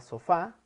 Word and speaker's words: sofá: En el caso de las palabras agudas es en la última sílaba, como en el caso de la palabra sofá, que lleva su acento en la A, como dice ahí en la pantalla.